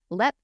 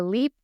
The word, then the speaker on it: Leap: reading this narrative and it's spelled leap and I like just with your brain I bet huh if a leap slips out I'm so sorry or take a shot